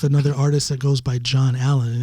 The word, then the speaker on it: John Alan: norwegians can't pronounce it they would call me alan and i'm like this is too difficult i mean that's fine to pronounce it that way but that's not my name so for artist purposes